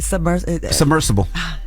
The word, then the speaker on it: submersible: I really struggle with the word submersible. It's that B. Or just say submarine. The B is silent. All right. The B's not silent.